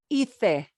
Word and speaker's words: hice: know that in Spanish, in Castilian Spanish, this will not sound like hice, it'll be hice. This will not be hiciste, it'll be hiciste. This will not be hizo, it'll be pronounced hizo. It's what they do, okay? That CE or Z gets the thing, yeah? But of course, here in Latin America, it'll sound like an S.